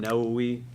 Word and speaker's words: Nawawi: you know you can Google 40 Hadith Imam nawi right now we is spelled n-a-w-a-w-i we're gonna look at the first